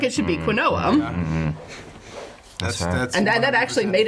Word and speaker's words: quinoa: one that turned up in an audiobook was quinoa. I did not know how to pronounce quinoa. I just looked at it the way that it's spelled and could pronounce it quinoa.